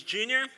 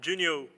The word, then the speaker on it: Junior: ourselves my name is junior i'm from brazil i actually said my my name wrong because i'm not junior i'm junior hey and i'm from